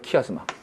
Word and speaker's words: 키아스마: 키아스마. 이 스도 이거 즈하고 스의 중간 발음 해주세요.